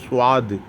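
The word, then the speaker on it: ص: அதற்கு அடுத்து உள்ள எழுத்து சுவாது. சுவாது என்பதிலே தமிழிலே சொல்லப்போனால் சுவா இத் சுவாது என்று நாம் சற்று ஏறக்குறைய உச்சரிக்கலாம்.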